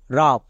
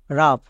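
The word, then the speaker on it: rough: আই তারপরে next দেখো রাফ রাফ এখানেও শেষে জি এইচ আছে জি এইচ থাকার জন্য ফ হবে হবে কেন কারণ তার আগে ওই ইউ আছে ওই ইউ এর জন্য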